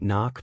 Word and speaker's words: knock: Have you ever wondered why we write knock but don't say the K?